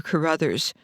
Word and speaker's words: Carruthers: Her pen name sounds the same, but it's spelled differently.